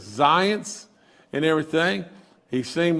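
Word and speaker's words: Zients: I was on the phone at 1:30 with him yesterday and uh his name is Jeff and and I think you pronounce his last name as Zance and everything.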